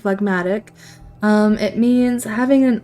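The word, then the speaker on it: phlegmatic: lesson with wifey I did say it right fmatic um it means having an unemotional and stolidly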